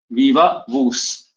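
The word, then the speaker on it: viva voce: कहते हैं वीवा वूस वीवा वूस वी ओ सी ई वीवा वस इसका प्रोनंसिएशन है वीवा वस वीवा बकुल स्पेलिंग है वीओ सीई ठीक है ववा वोस तो इसकी जगह ओरल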